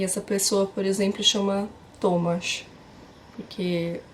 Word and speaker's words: Tomasz: pessoa, por exemplo, chama Tomasz, porque o Thomas aqui eles chamam de Tomasz, com SZ no final.